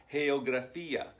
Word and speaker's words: geografía: G-E-O-G-R-A-F-E-A, geografía. Although you have a soft G and a hard G, it's still the letter G, right?